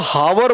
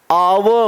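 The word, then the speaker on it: hour: अब देखो यहां पर क्या हो जाएगा भाई, कुछ लोग बोलते हैं हावर बोलते हैं, अरे मेरे भाई हावर वॉर थोड़ी ना होता है, क्या होता है इसका प्रोनाउंसिएशन क्या होता है आपका आवर होता है, आर की बात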